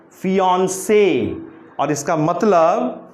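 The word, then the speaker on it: fiancé: सो the stress should be ऑन। हमारा जो जोर होगा, जो स्ट्रेस होगा वो ऑन पर होगा, और इसको पढ़ेंगे कैसे? फियांसे।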